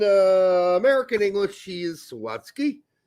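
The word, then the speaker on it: Zawadzki: Adams and uh Sean Zo Zodski. Zawatski. Zawatski. Thank you. I'm not sure why I put the wrong emphasis in the wrong sals. In German, he would be pronounced Zavatski.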